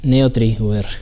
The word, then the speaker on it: Neotrie VR: Este software, pronúncialo tú correctamente, hombre. NeoTriWare.